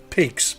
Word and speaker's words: pygg: old medieval pots that were called pigs, P-Y-G-G, not pronounced the same as like the animal pig.